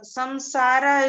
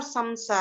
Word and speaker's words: samsara: This will be samsara because after sa, some you have sa. Sa is again the nasal consonant. Sa is sa, sha, sha, ha, ya, ra, la, va. These syllables will come, so the Anuswara sound will be changed to va, Anunasik.